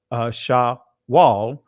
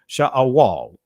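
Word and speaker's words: שאול: So the pronunciation is a little different. So sha'awal. Some would say shawal or sha'awal. All right, because every letter is pronounced in ancient Hebrew as a syllable, and we drop in an I at the end.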